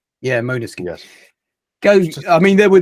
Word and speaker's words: Måneskin: Actually, it says here the pronunciation is Måneskin. Yeah, Måneskin.